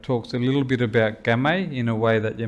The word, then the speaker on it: Kamay: And it's to do with Kamay, or Kamay, as our old people pronounced it.